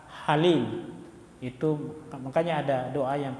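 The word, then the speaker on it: حليم: Agung dan Maha penyantun Halim ya pakai ha bukan Ha Halim itu makanya ada doa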